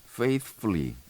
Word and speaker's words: faithfully: 그래서 faithfully 번데기 발음 바로 다음에 F를 붙여줘야 됩니다.